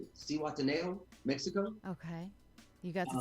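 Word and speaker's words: Zihuatanejo: I just got back from, I'm going to try to say it right, because my wife was like, you don't pronounce the Z. Cihuatanejo, Mexico.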